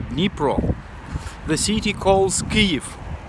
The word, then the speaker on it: Kyiv: Negro the city calls give not Keefe not nipple because we have two kinds two kinds of pronunciation Russian one and Ukrainian one so in USSR it